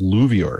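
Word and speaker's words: LUVOIR: they've got one called i think it's pronounced louvre it's a large ultraviolet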